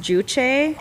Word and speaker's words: Juche: But we recently went to, I think it's pronounced Juche in St.